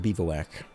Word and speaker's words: Bivouac: I know you guys tell me I pronounced that incorrectly. But that's what it is. It is a Bivouac.